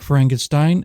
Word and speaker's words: Frankenstein: Frankenstein, My name, it's pronounced Frankenstein.